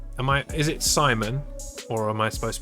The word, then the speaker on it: Simon: Simon. Like that. Simon.